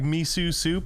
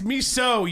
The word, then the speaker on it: miso: much what'd you say like me soup and your feet swell up it's miso you're racist guy can't even pronounce a soup mesothelioma bringing it back